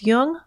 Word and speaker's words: Jung: jung on apple podcasts just be sure to pronounce jung with a hard j links to amazon's new